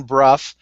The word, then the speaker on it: Brough: I'm Ken Brough. It sounds like B-R-U-F-F. It's spelled like B-R-O-U-G-H.